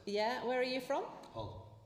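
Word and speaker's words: Hull: where are you from Hall hall Hall Hall silent did I say it right there a silent h all well it's been such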